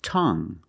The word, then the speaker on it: tongue: it's a noun and we have this word tongue the UE at the end is silent so we pronounce it like young tongue